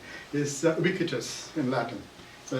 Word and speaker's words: Ubique: all it's it's pronounced it's actually a Latin word is wikitus in Latin.